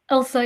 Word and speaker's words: Elsa: Yeah, it's pronounced Elsa, yeah, like frozen.